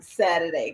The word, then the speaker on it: Saturday: it like that um Saturday because that's how we say it like no tea just bunch of D's in there so we can do